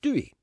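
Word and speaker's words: Doey: Paddy's Day and met a lovely wee guy from Derry, Londonderry, called Brian O'Doherty, and a girl from Meath called Dewey. D-O-E-Y, it's spelled.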